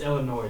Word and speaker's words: Illinois: It's Illinois. You don't say the S.